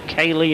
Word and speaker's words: Keighley: Oh, lovely inside outside shot bottom right for young Chris here from Keighley, or Cayley as they sometimes pronounce it up in Yorkshire.